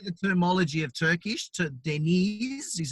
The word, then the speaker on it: Deniz: to get into the terminology of turkish to denise is how you pronounce the mail and well name but we